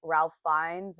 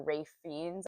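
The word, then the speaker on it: Ralph Fiennes: to see conclave with Ralph fines or R fiends I think is the correct pronunciation of his name and then we're going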